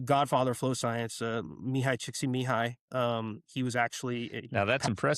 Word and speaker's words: Csikszentmihalyi: science, which the godfather of flow science, Mihai Csikszentmihalyi, he was actually now that's impressive.